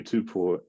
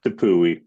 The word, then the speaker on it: Tapui: on, from Modern Day, was they call him Tommy Tupo or Topi. You pronounce his name properly. Tapui, is that it? Tapui, thank you.